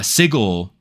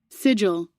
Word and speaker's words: sigil: As the sig si uh sigle or that's not how you pronounce that word. How do you pronounce that word? Sigil.